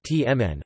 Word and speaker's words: Htamanè: Htamane, Burmese, pronounced tmn, also spelt htamane, is a glutinous rice-based savory snack, and a seasonal festive delicacy in Myanmar.